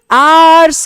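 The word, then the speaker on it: our: यह आवर नहीं होता। देखो इसकी इसकी और इसकी प्रोनाउंसिएशन एक ही होती है। आर ठीक है? इसको भी आर पढ़ते हैं। इसे भी आर पढ़ते हैं। इसे भी आर पढ़ते हैं। ना तो यह हावर होता है ना यह आवर होता है।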